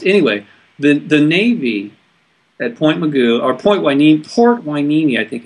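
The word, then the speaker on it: Mugu: And if you look at the map, it's spelled M-U-G-U, Moo-Goo.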